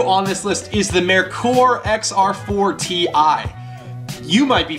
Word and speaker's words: Merkur: as a Merkur, or people pronounce it all the time wrong. Merkur. Technically it's pronounced Merkur. I don't know why, don't ask.